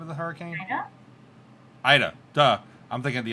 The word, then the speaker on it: Ida: How do you pronounce the name of the hurricane? Ida? Ida.